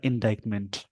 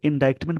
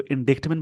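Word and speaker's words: indictment: ये एक वर्ड मिला इंडाइटमेंट। इसको इंडाइटमेंट, बहुत सारे लोग इसको इंडिक्टमेंट भी पढ़ते हैं, बट इसका जो प्रोनाउंसिएशन होता है इंडाइटमेंट।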